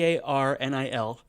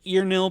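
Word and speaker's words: Earnil: So what if instead we go with a distant relative of And her aril e a r n i l looks like earil but I think it would be pronounced arnil distant relative of her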